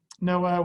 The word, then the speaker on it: NOAA: get this data from noaa which is the national oceanic atmospheric administration no i like noah because it's like noah's ark um not spelled the same way right but they give